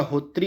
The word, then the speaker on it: होत्री: वैदिक कर्मकांड में होता, इसको होता नहीं बोलते, इसका सही उच्चारण होता है आपका होत्री होता है, इस प्रकार से यह लिखाता है होत्री।